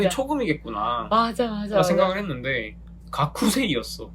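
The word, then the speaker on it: がくせい: 오, 이게 이제 발음 관련된 건데 스 발음 있잖아요. 스? S 발음. 네네네. 그리고 그 앞에 K 발음이 있어요. 음. 그러면 각쿠잖아요. 그러면 그 쿠가 약간 받침처럼 각세가 되는 경향이 있는 것처럼 또 하나 얘가 야쿠소크거든요.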